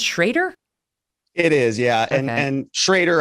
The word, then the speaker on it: Schroeder: name is bruce it's it's written schroeder but it's pronounced schrader it is yeah and